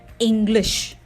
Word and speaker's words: English: The first syllable is stressed, in, and the second syllable is slightly de-stressed, glish. English.